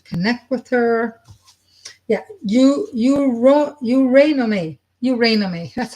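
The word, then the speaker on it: Eurynome: Eurynomy. That's how it's pronounced. Eurynomy.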